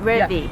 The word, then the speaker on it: Revi: Today I am interviewing Revi. Is that how you pronounce it? Revi. Revi, yeah.